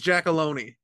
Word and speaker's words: Giacalone: It's Giacalone.